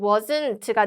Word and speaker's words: wasn't: 그래서 was not의 축약형은 wasn't가 되고요. 물론 여러분 트 발음은 거의 안 납니다.